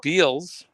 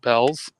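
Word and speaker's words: Bealls: Looks like Beals, but they pronounce it Bell's.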